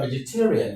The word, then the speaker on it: vegetarian: Number five, vegetarian, vegetarian, vegetarian, the same thing. The last syllable is rian. The one before rian is tay. Ve ge ta rian. The stress falls on tay.